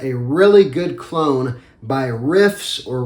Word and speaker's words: Riiffs: really good clone by riffs or reefs I think it's pronounced riffs as in this is their riff of Prada alone this is called